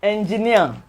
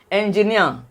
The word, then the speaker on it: engineer: has um three syllables for words that end in suffix Eero they are they are syllable the the primary stress is usually on the third syllable words that end in